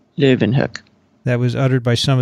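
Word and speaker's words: Leeuwenhoek: it in any case it should not be a germanized version like what's that kathy i said it more like leaven hook and he didn't like that living hook that was uttered by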